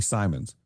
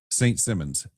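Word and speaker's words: St. Simons: I mean, it's like very phonetically Simons. But for some reason, they always send back the voice work. Unless you send them a pronunciation guide, it's St. Simmons every time.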